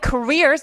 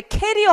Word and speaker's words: career: Which of the following careers, 이거 발음하실 때 캐리어 하면 안 돼. 캐리어는 뭐야? 캐리어는 공항에 가고 갈때 끌고 가는 가방이 캐리어죠. 네, 그래서 career 발음 한번 해볼까요? career career 한번 더 career 그지?